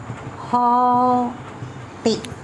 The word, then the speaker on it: haughty: GH is silent. Haughty.